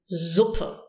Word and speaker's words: Suppe: One is a Z, using your voice. Z, as in Suppe. Suppe. This is usually used when the S is followed by a vowel.